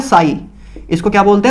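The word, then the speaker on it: psi: साई, जिसमें P silent होता है। अब ये अंग्रेजों की बातें हैं, मुझे भी समझ नहीं आती है कि क्यों पी साइलेंट होता है, क्या मतलब है, पता नहीं, हमें को क्या लेना देना, आप इतना समझो, इसको साई बोलते हैं बस, ठीक है, पसाई नहीं बोलते हैं, ठीक है।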